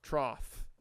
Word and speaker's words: trough: I got think about trough trough trough trough no you're saying th it's trough trough trough am I crazy F or th it's F man trough trough trough yeah